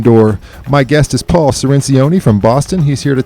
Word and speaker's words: Cirincione: Cirincione, if you want to pronounce it in Italian.